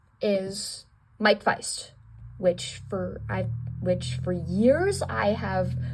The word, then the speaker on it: Faist: Okay, so number 3 is Mike Feist, which for years I have mispronounced his name as Mike Faist, until, like, the beginning of this year. I figured out it was Mike Feist and not Mike Faist, and I was like, oh my gosh, I've